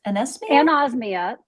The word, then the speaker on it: anosmia: Pronounce that word, anosmia? Anosmia.